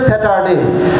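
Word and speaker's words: Saturday: Ready বলেন স্যাটারডে স্যাটারডে এতদিন বলছেন স্যাটারডে র আর উচ্চারণ হবে না।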